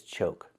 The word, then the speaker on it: choke: The first word is choke. We see we have a silent E at the end. When you have a silent E at the end of a word, we know the previous vowel is long, so we need the O sound like Coke, Coca-Cola. O, like no and go, choke.